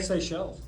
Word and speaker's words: Seychelle: What does that say? Seychelles. Seychelles. There you go. That's how you say it.